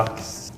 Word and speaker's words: laks: Yeah, they say it more like A, and you kind of say it like a U, like looks. How do you say A? Laks. Lax. And we say lax. Yeah. Yeah. It's like ah.